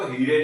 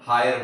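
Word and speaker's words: hire: इसको हम फीरे नहीं बोलेंगे। इसको वीरे नहीं बोलेंगे। इसको हीरे नहीं बोलेंगे। इसको फायर वायर और हायर बोलते हैं।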